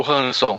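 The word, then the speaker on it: Ransom: e tal e utilizou esse nosso personagem o ransan Olha Só falando com a pronúncia correta aqui tentando pelo menos o Hanson o Hanson isso que aparece aqui nessa história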